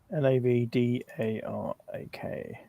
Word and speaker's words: Navdarak: We were in the city of Nadra, however you pronounce it. Yeah, we had done some kousing. Uh, Nav Dak Nav D A R A K.